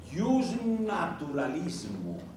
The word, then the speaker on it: iusnaturalismo: o pensamiento se llama jusnaturalismo todo junto y se escribe con j al principio o con i latina se pronuncia como y viene de la palabra